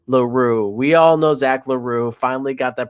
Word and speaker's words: L'Heureux: We all know Zach LaRue. Finally got that pronunciation down for y'all.